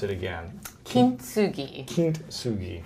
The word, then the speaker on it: Kintsugi: So in Japanese, typically you wouldn't say tsu. TSU is pronounced tsu. Got it. So very faintly with the T.